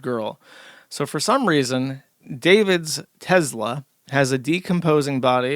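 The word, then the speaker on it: D4vd: I believe you pronounced his name David, but it's spelled weird. Yeah, his name is David.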